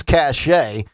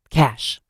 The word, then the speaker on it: cache: Man arrested at Trump Golf Course ahead of the president's visit and he allegedly had a weapons cache. Here's what we know so far. Huh? Cash.